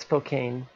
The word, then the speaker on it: Spokane: stop you right there it's pronounced Spokane I'm gonna stop you